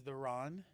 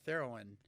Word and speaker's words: Theron: Charlize Theron. No, it rhymes with heroin. Charlize Theron.